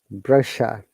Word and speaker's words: brochure: is it brushier or brochure what do you think guys it's a french word okay so why there are foreign words in english language it should be pronounced the way they pronounce so like croissant and